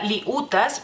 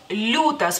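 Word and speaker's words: liūtas: que ser suave y la y no se pronuncia si se pronunciara diríamos liutas liutas no y pues los extranjeros que están aprendiendo el lituano si no se saben Esas reglas y no se la explicaron digamos así Ah van a pronunciar liutas pero realmente es lutas porque si quitamos la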